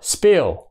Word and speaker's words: spill: chữ thứ hai là spill spill thì nó không thổi ra nha nó không thổi ra chúng ta đọc là spill dòn như phi âm